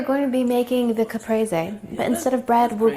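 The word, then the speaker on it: caprese: Capra sandwich it is a beautiful fresh watermelon Capra sandwich that's how you say it mozzarella sandwich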